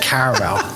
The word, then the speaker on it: caramel: pet peeve of mine since it does have an A in it and no one in America pronounces it um but you know since I'm British and I like to say things proper I will say it caramel joking people listening I'm